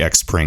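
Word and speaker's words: Xpring: the spring team and it is pronounced spring that you can say x spring it really doesn't matter guys but the cool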